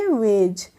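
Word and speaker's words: wedge: डब्लू ई डी जीई तो इसको क्या पढ़ेंगे वेज इसको हम बडज नहीं पढ़ेंगे तो वेज हो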